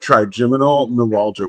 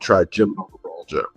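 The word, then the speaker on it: trigeminal neuralgia: because I don't want to screw up the pronunciation. Triiminal neuralgia. You got it. Triiminal neuralgia. We can also refer to it now that we've said it out loud. Triiminal neuralgia.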